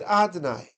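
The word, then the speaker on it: אֲדֹנָי: There's the way it's written, is Yud, then a Hey, then a Vav, and a K. And then we pronounce it Adonai.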